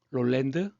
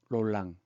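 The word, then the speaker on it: Roland: 롤랜드, 롤랑. 롤랑은 프랑스 발음인 것 같아요.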